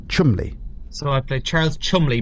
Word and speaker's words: Cholmondeley: It's pronounced Chumley. Chumley.